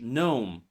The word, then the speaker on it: gnome: Silent G appears before N in words like no, Nash, gnome, align, benign, and so on.